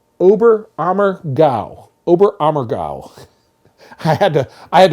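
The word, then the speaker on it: Oberammergau: in an area in Bavaria let's see it's pronounced obber ammer obber amow I had to I had to write down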